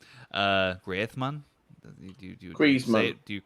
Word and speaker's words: Griezmann: being that uh antoine griezmann uh greatman do you say with that instead of the z no you pronounce the said grease you're right but i've heard that he prefers the spanish pronunciation greathman well he's french yeah